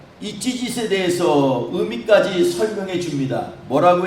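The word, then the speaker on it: ציצית: 여러분, 이 술이란 말은 히브리어로 찌짓입니다. 찌짓. 발음이 좀 이상하죠? 찌짓.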